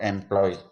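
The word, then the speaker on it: employ: इसी तरह ई एम पी एल ओ वाई, इसमें ई से शुरू है, एम पी डबल कॉन्सोनेंट है और उसके बाद में एल वाई है, तो इसको एम्प्लॉय।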